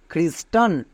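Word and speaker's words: Christian: একই রকমভাবে CHRIS, খ্রিস, TIAN, টন, খ্রিস্টান। সিএইচ এর পরে আর থাকলে তার জন্য ক হই, বাট এর উচ্চারণ আমরা খ কেন করছি?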